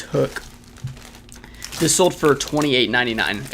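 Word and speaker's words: Huk: hook it's pronounced h-u-k I like to say Huck but um it's it's hook this sold for 28.99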